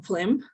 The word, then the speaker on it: phlegm: Moreover, the noun phlegm, okay, we have the pronunciation phlegm, as the way it's in this, well, between these two slashes, okay, the phlegm.